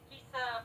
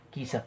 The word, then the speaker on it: Kisa: Prime. Yeah, it's Kisa Prime. Kesa Prime. Yeah, that's how you say it.